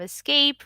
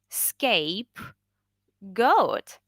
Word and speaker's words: scapegoat: think alibi okay great so it's not escape it's a scape goat right why do you